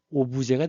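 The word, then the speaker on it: objet: 목적어 업젝 프랑스 발음을 하니까이 업이 오부제가 되는 거예요. 그래서 객체 대상이란 뜻으로 씁니다.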